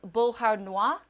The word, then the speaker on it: Beauharnois: And the tornado warning ended for Solange, Valleyfield, and Beauharnois, I believe is how you say that.